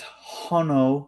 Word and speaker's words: Hono: to answer this uh question for Brad is hono a new company it is a new subsidiary